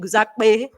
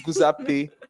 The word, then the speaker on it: Guzape: It's Guzape, but in Yoruba language, when there's a P, it's usually P. Yeah, there's a Popola.